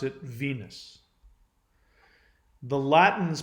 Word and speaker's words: Venus: one so the planet Venus we pronounce it Venus the Latin is pronounced it wane loose now the the last part the suffix the